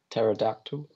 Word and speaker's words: pterodactyl: hell'd you say that pterodactyl silent P ago nails like perturbator